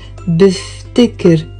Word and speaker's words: بفتكر: بفكر, two syllables, and بفتكر, three syllables, because these have one translation into English, I think.